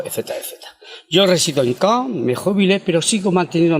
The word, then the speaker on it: Caen: Caen, es decir, que de mi ciudad natal, Jaén, le podemos sustituir la J de Jaén por una C y ya tenemos la ciudad de Caen, la pronunciación, y sin embargo Jaén, con respecto a Caen, tiene un acento escrito.